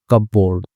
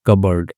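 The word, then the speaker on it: cupboard: उसको चिपकाए on your cup बोर्ड ठीक है ठीक है कबर्ड बोलते हैं ठीक है कपबोर्ड नहीं पढ़ेंगे कबर्ड ठीक है इसमें उच्चारण ता कपबोर्ड न इसको पढ़ते हैं कबर्ड ठीक है कबर्ड का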